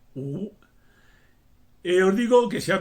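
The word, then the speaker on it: 辱: que significa humillar o insultar y que se pronuncia u.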